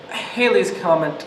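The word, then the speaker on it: Halley's Comet: tell us what you know about Hal's Comet Haley's Comet as it's pronounced is visible every 75 to 76 years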